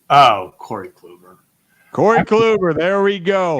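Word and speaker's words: Kluber: Nickname or his last name might rhyme with Uber. Who am I? Oh, Corey Clover.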